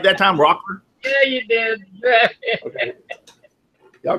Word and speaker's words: Rockler: Did I say it right that time, Rockler?